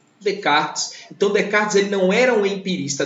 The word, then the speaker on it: Descartes: Tanto que no francês esse S não é pronunciado. Por isso que a gente fala Descartes.